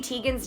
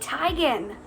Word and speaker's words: Teigen: believe it or not chrissy teigen's name is not chrissy teigen it's chrissy tygan oops but like everybody